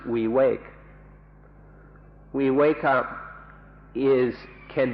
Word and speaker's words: viveka: v-i-v-e-k-a or we wake up an entire it's pronounced we wake we wake up is can be translated as